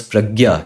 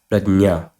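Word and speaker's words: प्रज्ञा: And this word this word does not pronounce as pragya. It is not pragya. It is prajna.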